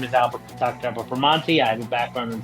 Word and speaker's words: Bramante: I'm going to introduce Albert Bramante. Is that how you pronounce it, Albert?